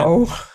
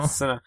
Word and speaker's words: Sinnoh: The region was Sinnoh? like that. Sinnoh, yeah. Sinnoh, did yeah. you just say That's the region. snow? Snow. No, Sinnoh.